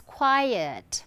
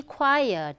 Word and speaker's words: quiet: Okay, so the first one is quiet. Please be quiet. We don't say quiet.